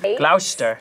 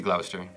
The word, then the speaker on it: Gloucester: Gloucester. It's gonna be Gloucester.